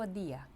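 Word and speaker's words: día: і в іспанській мові не пом'якшується д і т та інші приголосні перед і тому не можна сказати дія треба сказати дія майже як з и це як ніби ви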